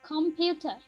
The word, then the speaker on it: computer: আচ্ছা, উচ্চারণ করো হাজুরা। কম্পিউটার।